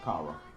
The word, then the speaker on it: Kara: Yeah, it'll be pronounced Kara, most likely. Like Sarah with a K, but you know what I'm talking about right there.